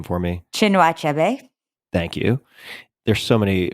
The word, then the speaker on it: Chinua Achebe: Another, Things Fall Apart by, can you pronounce this author's name for me? Chinua Achebe.